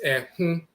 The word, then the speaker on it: Ehun: The Akan term Ehun is pronounced with a nasal O, so it's Ehun, which is directly derived from Ekku or Aakhu and so forth.